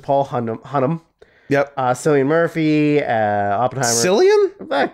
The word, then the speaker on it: Cillian: Is that how you spell it? Paul Giamatti for The Holdovers is Paul Hunnam. Yep. Cillian Murphy, Oppenheimer. Cillian? Killian, whatever.